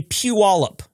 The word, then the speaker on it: Puyallup: Uh it's actually p wallop is how we pronounce that. That is a native American name. Uh Puyallup.